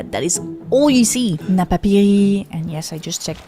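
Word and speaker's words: Napapijri: Napiri, and yes, I just checked the pronunciation after mispronouncing it for more than a decade. But anyway, Napiri and Tommy Hilfinger are great examples of this.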